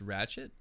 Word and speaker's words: Ratched: of those things where i think that like it is a d but it just sounds like a t when you pronounce it yeah i don't know